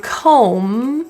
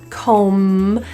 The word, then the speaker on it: comb: a silent sound like the word comb with a B the B is not pronounced so we're really looking at the last sound comb to dictate whether it's